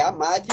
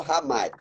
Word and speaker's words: Hamad: É Amade ou Hamad? A pronúncia dos dois está correto, viu, doutor Francinal?